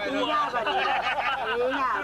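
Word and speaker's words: Llavaneres: Lavaneras. Lavaneras si scrive con due L. Un viaggio, diciamo. E si dice in catalano Lavaneras.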